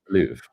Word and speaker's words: Louvre: It's the Louvre, Matthew. Louvre.